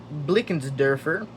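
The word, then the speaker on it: Blickensderfer: Um, this is pronounced Blickens Derfer.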